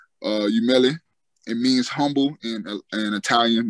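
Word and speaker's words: Umile: The brand, I'm getting some new stuff started, but the brand name is called Umele.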